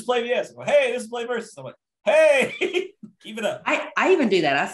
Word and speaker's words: PlayVS: it play versus aaron tell us about yourself play versus i'll set i'll settle that debate right now yeah phonetically financially pronounced play versus spelled out play vs so it's weird because